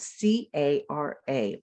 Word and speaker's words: cara: So the word for face in Spanish is spelled C-A-R-A, and we pronounce it cara.